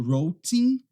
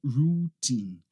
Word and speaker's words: routine: Algumas pessoas acabam falando routing ou routing. Nesse caso aqui é routine, routine, tá bom?